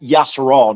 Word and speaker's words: Yasharal: They attacked Yasharal, not Israelites. That Israelites, the modern name. We're going to go back to the back, what the original name is.